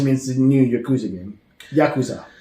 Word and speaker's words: Yakuza: the new Yakuza game Yakuza I keep saying Yakuza yeah accent the second syllable uh we get After